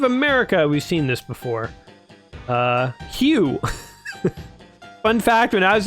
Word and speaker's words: Hugh: Hugh.